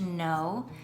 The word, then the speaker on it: know: is going to be spelled k-n-o-w and the word is pronounced no and this is not